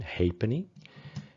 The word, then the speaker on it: halfpenny: the halfpenny, and that is indeed the correct pronunciation, halfpenny, and then the farthing worth a quarter of a penny.